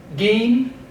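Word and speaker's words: עִם: Okay, the next word is gin, gin. Give that ayin a slight pronunciation.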